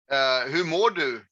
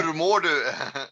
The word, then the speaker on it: Hur mår du: Hur mår du? What is it? Difficult, huh? Hur mår du? Hugh, I can't spell it.